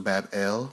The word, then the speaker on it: Babylon: The shrine was located in the city of Babylon, which is pronounced Bab-El, which pretty much means the city which is the gateway of the gods.